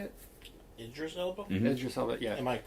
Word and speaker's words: Idris Elba: Idris Elba, yeah.